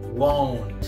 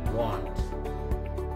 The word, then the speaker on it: won't: The next, supposed to be pronounced as won't. What is it? Won't. Won't. Not want. Not want. But won't.